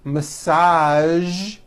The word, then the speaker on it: massage: television very good now there are only a few words that have the voiced z sound at the end a few of these words are the color beige the word massage and the word pre